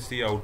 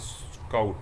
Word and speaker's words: cout: So next we are having question number 124, the function C in and C out, don't read it as sin and scout, it's not the correct pronunciation।